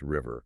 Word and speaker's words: Revy: And it's produced by DJ Revy, who we know is pronounced River.